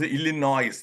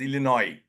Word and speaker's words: Illinois: seen many people pronounce Illinois no it is Illinois s is silent other one yes Des